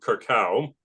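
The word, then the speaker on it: Curaçao: Even before they set up shop there, though, there were Sephardic Jews who came to Curacao, I believe that's how it's pronounced, in the Caribbean.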